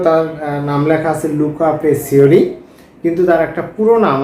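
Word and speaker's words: Pacioli: কখনো ডি পেসিওলি উচ্চারণ করা অথবা পেসিলিও উচ্চারণ করা হয়, তো এটাই সঠিক নাম।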